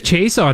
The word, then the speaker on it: Chiasson: How do you say his name? Alex Chason. Chason.